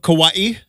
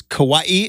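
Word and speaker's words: Kauai: to the island of kawaii which I learned it is Kawaii is how you say it not Kawai um and it is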